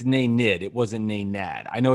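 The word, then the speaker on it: Nenad: the hard way no big deal but it's nay nid it wasn't nad i know it's amazing since you've it's name nick no it's nate nate kristic no it was spelled naynad but it's pronounced nay nid all right we may have to go back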